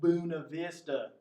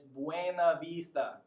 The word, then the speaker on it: Buena Vista: If you're watching this, it's not Buena Vista. It's Buena Vista. All right? Come on now, not Buena Vista.